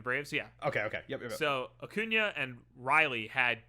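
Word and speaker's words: Acuña: I'm gonna say his name wrong. Is it Acuna or Acuna? Acuna.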